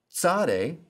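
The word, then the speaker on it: צ: the p in pastor sade sounds like the ts in boots kof sounds like the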